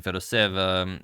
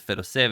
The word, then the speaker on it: Fedoseev: Sorry about mispronouncing Fedoseev in a couple of previous videos, but I was originally pronouncing it Fedoseev and then someone sent me an email saying it was actually Fedoseev, and I trusted them,